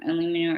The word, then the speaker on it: aluminum: use the kind that has the aluminium or aluminum or however you want to pronounce it in it because that essentially just